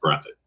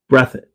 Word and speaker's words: Breathitt: It's pronounced Breathitt. Breathitt? Okay. Breathitt.